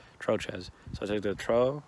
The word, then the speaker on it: Trochez: just my last name my last name isn't just troll but it's troches or troches or troche depending how you say it but troches so i'll take the